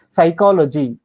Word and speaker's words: psychology: i i just now told you psychology ptolemy these all silent letters but we should write